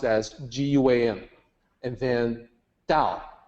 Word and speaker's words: Tao: as guam and then dao written as tao pronounced like d-a-o so that's what that